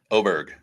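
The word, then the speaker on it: Åberg: say it correctly every time going forward right oberg I had to I had to throw that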